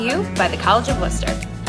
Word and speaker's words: Wooster: how to pronounce Worcester. It's not Wooster like rooster, and it's definitely not Worcestershire.